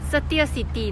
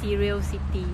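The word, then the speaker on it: Setia City: some figures as well Satya City not serial city so tiered City Convention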